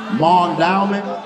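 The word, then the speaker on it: Mondawmin: And how's it pronounced? Mondalman.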